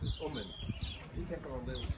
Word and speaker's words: Uman: It was in what's called Kiva Gubernia, not far from the city of Yossilinks and near Uman, and my mother always pronounced it Uman.